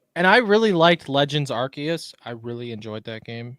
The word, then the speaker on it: Arceus: It is pronounced Arceus.